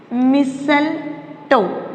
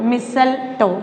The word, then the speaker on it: mistletoe: Example is mistletoe. Mistletoe. Here T is silent.